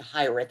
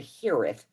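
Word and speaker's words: hiraeth: here is which aaron most of us just pronounce it hireth but the correct pronunciation would be the hereth um and it's the welsh word for homesickness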